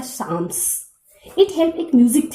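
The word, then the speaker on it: psalms: इंपेरर चार्लेमैग्ने encourage church music called, जैसा कि यहाँ पे स्पेलिंग्स देख रहे हो, इसका सही प्रोनाउंसिएशन होता है साम्स.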